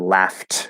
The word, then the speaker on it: laughed: So we wouldn't change it to laughed, which would be spelled ed, even though it's pronounced with a T.